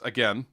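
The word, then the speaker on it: Yyrkoon: to see both usurped by his other cousin Yrcoon. Yrcoon, okay. Yeah, it's Yrkoon.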